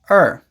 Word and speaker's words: or: Most of the time, in natural speech, we don't say or, we say er.